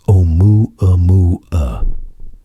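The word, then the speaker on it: ʻOumuamua: They chose the name Oumuamua, pronounced Oumuamua.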